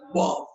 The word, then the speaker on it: bomb: By the way, bomb has a silent letter B, قنبلة, bomb.